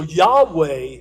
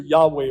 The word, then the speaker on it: Yahweh: You may hear it pronounced Jehovah. So depending on, we've lost how you pronounce it, but it's either Yahweh or Jehovah.